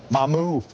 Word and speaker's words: Mamukelashvili: Mamukelashvili. Mamukelashvili. Mamukelashvili. Four syllables. Mamukelashvili.